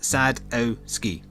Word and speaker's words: Sadowski: Sadowski, or Sadowski, I guess, is pronounced Sadowski.